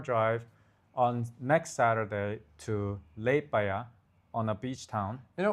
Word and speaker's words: Liepāja: Liepāja? Even I don't Li Liep Liepāja.